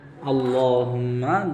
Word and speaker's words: Allahumma: LAW sound. Like a English word law.